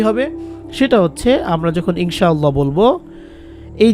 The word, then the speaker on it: ইনশাআল্লাহ: কায়দা অনুযায়ী বা তাজবিহিদ অনুযায়ী অনেকটা অনেস্বারের মত উচ্চারণ হবে ইনশাআল্লাহ আল্লাহু এখন আমরা তো চারে লিফটে নেয়া শব্দটা